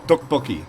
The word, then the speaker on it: tteokbokki: I was all tteokbokki. He's like, yeah, that's how it's said. That's how you pronounce it.